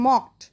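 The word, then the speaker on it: mocked: যাবে না, একসাথেই উচ্চারণ করতে হবে মকড।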